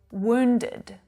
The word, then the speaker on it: wound: past tense of wind wound ow again it's that diphthong sound ow and it's the same sound that you hear in words like flower and frown so it's wound he